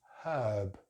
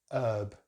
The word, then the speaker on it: herb: American English it's the same, they just don't pronounce the H here. So it's herb, herb.